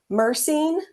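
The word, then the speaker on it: myrcene: insomnia and I'll pause after I say it mercine so folks are writing this down it's spelled m yr c NE linol l i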